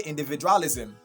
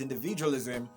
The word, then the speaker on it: individualism: So you don't say individualism. If you say individualism, you're stressing the second syllable, dra, okay? So the right way to say it is individualism, okay? The stress is at the third syllable, okay, from your left, okay?